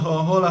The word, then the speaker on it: Coca-Cola: Es que acá en Toscana, por ejemplo, la C lo pronuncian como la J.